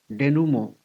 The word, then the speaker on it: denouement: It has French origin. Pronunciation is somewhat like denouement, the final outcome.